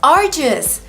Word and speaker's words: arduous: The DU makes the J sound like jump and juice. Ardu. We use a long oo like food and boot.